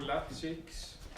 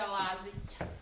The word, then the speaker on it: Lazić: Okay, first prize goes to Applause for Lazics. Was it the right pronunciation? No. Applause for Lazics. Aplausi za Lazić.